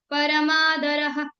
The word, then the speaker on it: परमादरः: उसके बाद जब एंड में आता है तो हमें फुल प्रोनाउंस करना है। जैसे परमादरः परमादरः इसमें परमादर ऐसा नहीं प्रोनाउंस किया। परमादरः पूरा आप फुल प्रोनाउंस कर सकते हैं इसको।